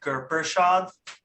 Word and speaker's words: Gurpershad: My name is pronounced Gurpershad. Gurpershad.